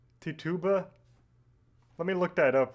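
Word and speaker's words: Tituba: Tuttuba. Let me look that up real quick. Okay. How do how do you pronounce Tuba? Tichuba.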